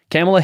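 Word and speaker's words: Kamala: way camela is it camela camel camela okay camela Harris dropped an F bomb while urging young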